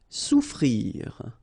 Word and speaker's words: Souffrir: Souffrir. Okay, so double F is not pronounced.